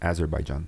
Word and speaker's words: Azerbaijan: Azerbaijan. That's how you pronounce it.